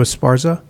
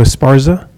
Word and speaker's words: Esparza: Yes, hi, Esparza. Pronounce Can your you hear last me? name for me again? Esparza.